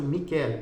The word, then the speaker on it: Michele: Michele, pronuncia-se assim Michele, então Michele com I. No final e você vai